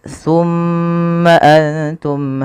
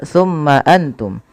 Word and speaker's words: ثم أنتم: Ketika mim itu berharakat tasydid, wajib ditahan suara gunnahnya. Ya, tidak boleh langsung summa antum. Tapi tahan dulu suara mimnya dengan menahan bunyinya.